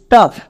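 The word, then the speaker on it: tough: তাহলে কি দাড়ালো? টি ও ইউ জি এইচ টাফ।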